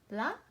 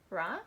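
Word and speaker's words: ら: Alright, so that's the first letter for today, and we pronounce it like la, not ra, but la.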